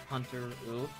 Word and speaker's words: Hanteru: first off I just want to say it's pronounced like hunter over you at the end Hunter rule anyway so I'm here with a new series